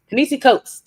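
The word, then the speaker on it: Ta-Nehisi Coates: the case for reparations by I get his name wrong every time but you said it earlier. Tenis coats. Tenisi coats.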